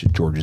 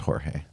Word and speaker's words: Jorge: George Zimmerman was acquitted for trying to kill Trayvon Martin and uh George Mario Baragio also known as Pope Francis became the pope. So that's pronounced Jorge.